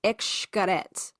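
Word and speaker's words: Xcaret: We went to this um it's like a theme park and it's spelled X K A R T E T and it's pronounced Xarette.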